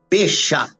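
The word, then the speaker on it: Pesach: Então, foi criada a Páscoa, que vem do hebraico, da expressão hebraica, Peshá. Peshá. Se escreve com P-E-S-A-C-I-H.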